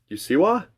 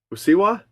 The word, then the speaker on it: Usseewa: this song is you let me spell it for you exact pronunciation you SS e w a you siwa siwa it's also possible that